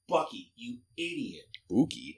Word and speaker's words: Bucky: He's like he purposely mispronounced people's names like on purpose. Like, who's Buki? I'm like, it's Bucky.